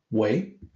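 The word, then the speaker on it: 微: This character is pronounced Wei.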